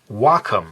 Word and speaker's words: Wacom: the company is pronounced I always thought it was wum but I called them up because I need needed to get the driver uh the sort of you know software that would allow me to use this thing and everyone in the company was saying Wacom so I thought I think they know how it's pronounced it must be Wacom I